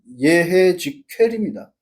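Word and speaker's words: יחזקאל: 올바른 발음은 예해직회입니다.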